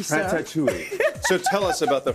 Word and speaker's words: Ratatouille: when I said Ratatouille it's not ratou ratat ratou Ratatouille so tell us about